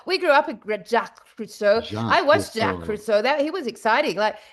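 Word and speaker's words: Cousteau: Jack Kusto. That's it. Jack Friso. We grew up with Jack Cruso.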